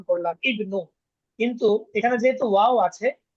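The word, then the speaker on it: ابْنُ: প্রথমে যে হামজাটা আছে ইবনু আমরা ইবনু বললাম তাই না হামজা উচ্চারণ করলাম।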